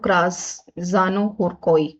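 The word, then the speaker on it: Krasznahorkai: तो बिल्कुल यहां पर लेज़लोला यहां पर हम प्रोनाउंस करेंगे इसको। क्रासानो हुरकोई।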